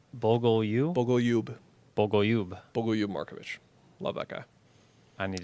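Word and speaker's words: Bogoljub Marković: It's pronounced Bogolyub Markovic. Bogolyub? Bogolyub Markovic.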